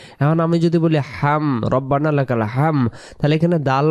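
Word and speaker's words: ربنا: এরপরে আমরা সোজা হয়ে দাঁড়াবো যখন তখন আমরা একটা পড়ি কি রব্বানা লাকালহামদ রব্বানা রাব্বানা না উচ্চারণ রব্বানা রব্বানা লাকালহামদ হামদ এমন উচ্চারণ হিসেবে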